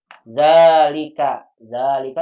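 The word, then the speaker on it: ذلك: Zalika juga sama nggak ditulis alif. Zalika walaupun dibaca panjang.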